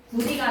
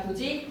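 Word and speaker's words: 굳이: 구디가 아니라 구지.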